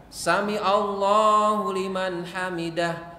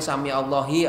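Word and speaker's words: سمع الله لمن حمده: ruku ya mau i'tidal samiallahu liman hamidah samiallahu liman hamidah jangan sampai Sami Allahi atau Sami allaha Karena beda bukan samallah Sami Allah Sami Allah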